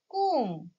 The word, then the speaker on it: comb: In this word, B is silent. We do not pronounce B. So, we can say comb.